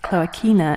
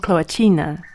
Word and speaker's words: Cloacina: And as a side note, her name is pronounced Cloacina in Latin and Cloacina in Italian, so you'll probably hear me swinging back and forth between the two.